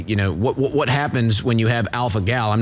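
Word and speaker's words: alpha-gal: Is it AlphaGal, guys? Is that the pronunciation? It is AlphaGal.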